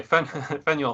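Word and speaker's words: Faneuil: who convene it fan well how do you say half an hour then Fanueil Hall at least as the modern Bostonian okay venya Hall up to 3000 people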